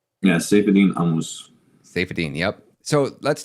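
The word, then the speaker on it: Saifedean: is that how I say his name yeah safine I'm safine yep so let's talk a little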